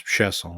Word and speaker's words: Chason: The way he spells it, that's Chesson, where I'm coming from. But Chase, it looks like he pronounced it Chason.